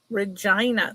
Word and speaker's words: Regina: Regina.